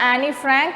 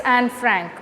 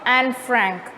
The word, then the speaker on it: Anne Frank: suggests it's anne frank actually e is silent over there it's not annie frank it's anne frank okay so now the